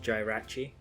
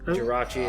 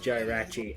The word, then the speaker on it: Jirachi: me that Jirachi was pronounced Jay rachi uh the movie just came out Jirachi and the Sun and the wishes or whatever and uh he was trying to convince me that it was actually pronounced Joe rachi and then he like